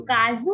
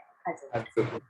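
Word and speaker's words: かず: देखिए काजू लिखा हुआ है, लेकिन मैं उसको खा प्रोनाउंस कर रही हूँ ना, ख से खरगोश टाइप एक्सेंट स्टफ है ना, खाजू। काजू नहीं, खाजू होता है, खाजू।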